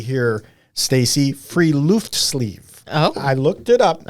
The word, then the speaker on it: friluftsliv: it phonetically here, Stacy, Friluftsliv. Oh. I looked it up. Okay. From a professor who said that is the way to pronounce it, Friluftsliv, or free air life.